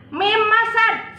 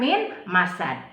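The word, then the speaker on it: مِن مَسَد: Nah, di sini ada kata mim masad, sedangkan ditulisnya min masad. Tetapi karena nun sukun bertemu dengan huruf idgham biguna yaitu mim, maka dibacanya dimasukkan. Jadi mim masad bukan min masad.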